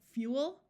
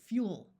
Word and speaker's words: fuel: I would like to point out that in much of the US, these words are pronounced as one syllable. So you will hear both fuel and fuel, cruel and cruel.